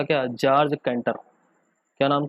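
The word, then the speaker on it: Cantor: George कैंटर, कैंटोर। ठीक है, George कैंटोर बोलते हैं इसको।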